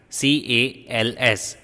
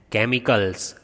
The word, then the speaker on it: chemicals: CHEMICALS, chemicals. How do you pronounce this CH? K. You will not say ch, you will say k.